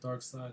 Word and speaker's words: Darkseid: So Dark Seed is DARKSEID. Pronounced dark side though, right? Dark side.